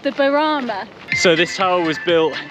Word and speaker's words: Burana: If you know me, I'm really bad for this, and Bob's just told me that I mispronounced the tower, so it's called the Burana.